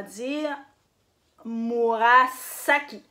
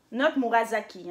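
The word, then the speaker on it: 紫: Donc, on va dire Murasaki. Not Murasaki, hein? Ça veut absolument rien dire. Murasaki. Murasaki. Donc, vous prononcez S. OK? Murasaki. Murasaki. Mauve.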